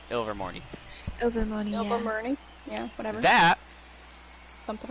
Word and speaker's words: Ilvermorny: Rowling announced like, oh yeah, there's an American version of Hogwarts, Mount Ivermorny, or however you actually pronounce it, I don't know, Ilvermorny.